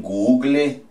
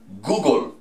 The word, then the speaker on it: Google: Dicen Google, Google, ¿cierto? La E al final no suena.